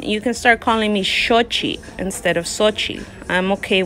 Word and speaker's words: Xochitl: of shochi and say sochil so i think um it's important to know the pronunciation of these now what sounds so whenever you see an x the x actually sounds like s h so sochil is actually